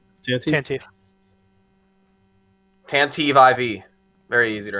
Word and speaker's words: Tantive: How you pronounce it? Tantive.